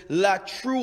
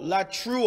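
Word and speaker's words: latreuo: word that we have uh for worship is la true oh la true i'll spell it for you l a t r e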